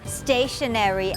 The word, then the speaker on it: stationery: เครื่อง เขียน หรือ ว่า stationary s t a t i o n e r y ซึ่ง คำ คำ นี้ เนี่ย นะ คะ จะ ออก เสียง เหมือน กัน กับ คำ ว่า stationary s t a t